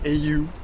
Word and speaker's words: au: Là vous avez un autre opérateur téléphonique, AU, donc AU en japonais et en anglais d'ailleurs, vu que c'est la prononciation anglaise.